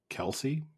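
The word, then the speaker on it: Kelce: But I don't know if you saw Did you see the news that Travis Kelsece, we've been mispronouncing his last name the entire time? Is it Kelsey? Is it contendant? From what I understand, it's just Kelse is how it's supposed to be said, but we've just been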